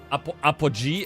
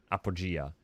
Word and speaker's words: Apogea: Apogee. Uh, it's actually Well, close. So, replace the second E with an A. Apo. Okay. So, close. Very close. Very close. Apogeia.